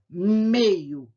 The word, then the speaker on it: meio-dia: Então, eu já deixei como exemplo também meio-dia, meio-dia. A sílaba mais forte é mei e a sílaba mais forte é di, ok?